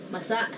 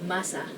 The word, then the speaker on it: masa: You have to be careful of the accents here because masa means moist, but there's another word spelled the same called masa, which means the masses. So masa and masa. So just be careful to say it as masa.